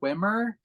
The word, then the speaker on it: Wimmer: uh this is from I will pronounce the director's name Kurt Wimmer because it's w-i-m-n-m-e-r who I believe uh